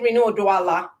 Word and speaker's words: Rinu Oduala: of all i like to check uh name pronunciations is it reno doala yes yes okay i'm saying it right because